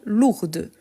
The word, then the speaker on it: lourd: parfait donc son contraire lourd lourd je ne prononce pas le D par contre quand je fais le féminin lourde lourde donc léger légère